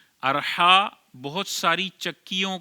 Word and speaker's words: Arha: चौथा नाम है अरहा अलिफ पर ज़बर है और आखिर में भी हमजा है अरहा यह इसकी वाहिद रहाहा